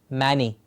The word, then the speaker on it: many: Many people will pronounce M-A-N-Y as many. I have seen many things. It's not man and e, it's men, many.